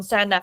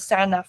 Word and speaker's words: Senedd: I feel like even now, like I'm leading on Senedd election legislation campaign.